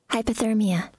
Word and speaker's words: hypothermia: Но читается так же, да, как хайп. Hype, hypothermia. No, but I did get hypothermia.